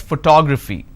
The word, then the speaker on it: photography: So here I pronounce this as photograph, here I pronounce this as photography.